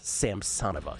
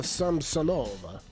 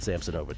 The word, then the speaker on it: Samsonova: Ludmila Samsonova, though. That's the problem, man. I used to pronounce it Samsonova, too. Well, of course. Of course you would. She's putting on the wrong emphasis on the wrong syllable.